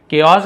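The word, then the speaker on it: chaos: केओस यानी क्या होता है? पढ़ने में तो चाओस जैसे लग रहा है। बट वो नहीं पढ़ेंगे। केओस।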